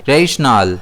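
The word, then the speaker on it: rational: इसे हम प्रोनाउंस करेंगे रेशनल, जिसमें स्ट्रेस जो है वो एन पर रहेगा।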